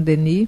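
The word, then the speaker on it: Denis: eu não sei fazer a única observação que sei do francês é que a letra s você não pronuncia René decart Leon Deni pronuncia é então vamos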